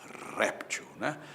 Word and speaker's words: réptil: Se fosse com acento, seria réptil.